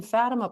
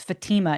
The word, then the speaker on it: Fatima: lady appears and I've obviously been mispronouncing it because when I read it, it says Fatima in my mind. Yes. Well, and when I went to Portugal, actually, they said Fatima. So, hey, I'm I'm mispronouncing it, too. But the common American bastardization is Fatima.